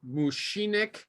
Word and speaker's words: Vošinek: Okay, and our friend, you tell your name so I don't mispronounce it. Go ahead. My name is Vošinek Vošinek, is that how you say it?